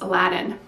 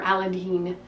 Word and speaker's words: Aladdin: of Cups over here this is Aladdin or aladine depending on how you pronounce it most people say Aladdin from Disney but I was told that's wrong and it's aladine you tell me uh the